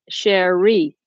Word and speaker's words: Cherie: Is the emphasis on the first syllable? Cherie? Or Cherie? Second syllable.